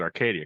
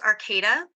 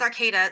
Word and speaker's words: Arcata: uh I've oh Arcata California I almost said Arcadia carcata California it's actually pronounced Arcata so it is okay though okay yeah it's Arcata so it's not Arcadia that's in Southern California